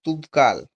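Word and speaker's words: Toubkal: উঁচু শৃঙ্গ কি মাউন্ট তুপকাল শূন্যস্থানে লিখবে মাউন্ট তুপকাল বা শুধু তুপকাল লিখতে পারো। ঠিক আছে? বা তৌবকালও বলে অনেকে। ইংলিশ স্পেলিংটার সঙ্গে এরকম উচ্চারণ হয়। তৌপকাল বা তুপকাল।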